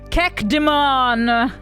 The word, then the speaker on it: cacodemon: For your own education, please understand that the correct pronunciation is Kekdemon.